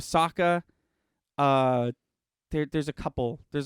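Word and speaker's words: Sokka: ong instead of aang they say uh uh soca instead of saka uh there's a couple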